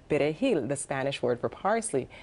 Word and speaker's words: perejil: them, can you say perejil, the Spanish word for parsley? And if you could not roll your R properly, you were killed.